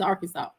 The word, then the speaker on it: Arkansas: You spell it our Kansas, but it's Arkansas.